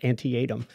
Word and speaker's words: Antietam: My mom told me it was Antietam.